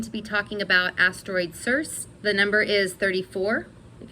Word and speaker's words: Circe: it in my mind, I pronounce it as Circe, so that's how I'm going to pronounce it here. If it's not how you pronounce it, sorry.